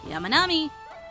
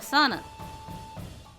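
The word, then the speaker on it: 山南: Yamanami or Sanan?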